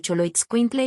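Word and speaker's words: Xoloitzcuintle: Contenía la letra X con tres pronunciaciones distintas y muy específicas del español mexicano. El sonido es H de Sochicalco, el sonido S al inicio de Choloit Quintle y el sonido de la J en Jalapa.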